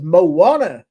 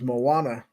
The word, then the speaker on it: Moana: He says Moana is how it's pronounced. Okay. Uh, now I know. Thank you for correcting me. Moz on what? Uh, the name of the Disney movie is Moana, not Mo.